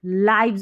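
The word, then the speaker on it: lives: तो आवर आवर हमारी लाइव्स इसको लिव्स नहीं पढ़ना देखिए लाइव्स का मतलब हमारी जोिंदगियां हैं लाइफ है ना उसका प्लूरल है लाइव्स लाइव्स इसको लिव्स नहीं पढ़ना है लिव्स भी होता है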